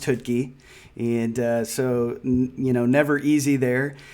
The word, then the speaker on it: Choutka: Last name looks like Choutka, pronounced Choutka.